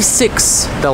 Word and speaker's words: sixth: And the TH, the voiceless TH sound that we use at the end of sixth is very similar. The only difference is your tongue is out just a little bit and you blow out air.